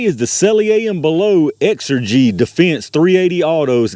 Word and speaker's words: XRG: the celia and below exergy defense 380 autos got xrg but they spelled it out here exergy so i guess that's how they want you to pronounce it uh these are again